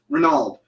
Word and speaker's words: Renaud: and how do you say that? Renaud. I didn't know that's how you spelled Renaud.